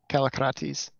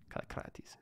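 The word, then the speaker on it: Kallikrates: Kalakrates. Oh, I'm not. It's a forward, not a back, on the R. It's a tongue tap. Kalakrates. Kalakrates.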